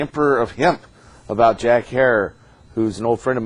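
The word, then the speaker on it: Herer: Have I pronounced it correctly, Jack? Herrera.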